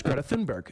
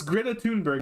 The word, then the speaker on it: Greta Thunberg: that story first off I don't know how to pronounce Greta thinberg and I'm Swedish and I'm sorry it's Greta tunberg it's kind of how you're supposed to say Greta tunberg um I don't think